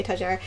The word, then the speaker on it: étagère: I know it's not the French way to say it, but I think if you're American, you say étagère.